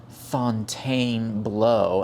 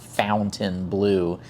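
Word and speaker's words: Fontainebleau: And yes, that is how it is pronounced. I don't know if any of you actually went uh to French 101, but it is not Fountain Blue by any stretch of, you know, linguistics, but that's neither here nor there.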